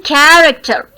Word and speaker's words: character: Then character. Character. So care is to be stressed here. So it is stressed syllable. First syllable is stressed.